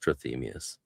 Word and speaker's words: Trithemius: But yeah, in English it's pronounced trmius.